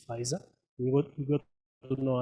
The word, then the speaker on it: Pfizer: very difficult to pronounce is it fisa city but eventually you all got to know it is fisa what you got to